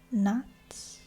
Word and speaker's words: gnat: I think they're either flies or gnats. That's how you pronounce it. Gnat.